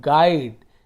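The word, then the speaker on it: guide: तो इसे GU एक साथ होता है तो इसे GUID, तो ये गाइड, इसे हम पढ़ते हैं गाइड। क्या पढ़ते हैं? गाइड। ए नहीं लिखा हुआ लेकिन उच्चारण ऐसे करते हैं। GU एक साथ है तो ग उच्चारण हो रहा है, ग, फिर आई का आई ही होगा, गाइड।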